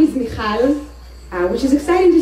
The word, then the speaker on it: Michal: Costa Rica because it's the only place in which I can pronounce the ch, and people can actually say Michal instead of the Mihal, all the kind of versions I hear.